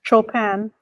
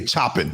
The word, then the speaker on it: Chopin: shop show how do you say his name chopin chopin yeah you know i had a guy in school he confused me all the time he always say chopping i'm like i heard his voice like the